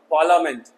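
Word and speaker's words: parliament: ल ही तो पढ़ोगे ना, एल ए ल, पार्लियामेंट संसद। चलते हैं के से साइलेंट, तो के नीचे मैंने अंडरलाइन कर दिया,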